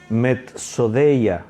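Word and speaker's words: μεθοδεία: la palabra griega es mets o de ella metz o de ella se escribe así m d s d e y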